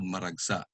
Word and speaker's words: maragsa: And the fourth kind of Tagalog word is called maragsa. Just like mabilis, it's pronounced fast with the accent on the last syllable. But just like malumi, it has a glottal stop as well.